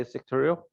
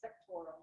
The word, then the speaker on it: sectoral: So that's the right way to say sectorial. It's sectoral.